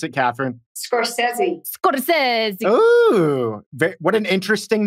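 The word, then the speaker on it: Scorsese: Scorcese. How do you pronounce it, Katherine? Scorcese.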